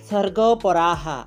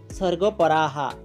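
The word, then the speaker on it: স্বর্গপরাঃ: পার্থ, হে পৃথানন্দন, কামাত মানহ, যে কামনাতে মগ্ন হয়ে আছে, স্বর্গপরাহা, এখানে দন্ত্যস্বর উচ্চারণ স হবে, স্বর্গপরাহা, স্বর্গকেই যে শ্রেষ্ঠ বলে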